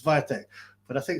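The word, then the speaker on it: Świątek: pronounce her name phonetically It should read Swire Tech it's viatek but I think it's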